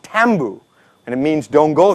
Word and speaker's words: tambu: The word taboo is actually a Solomon word. It's actually pronounced tambu.